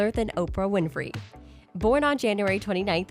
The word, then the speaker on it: Oprah: as orpah gail winfrey with her first name spelled as orpah after the biblical figure in the book of ruth her name got mispronounced as oprah and from there it kind of stuck with her she was born in